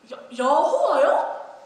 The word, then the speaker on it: 여호와: 우리 발음으로는 여호와입니다. 여호와요?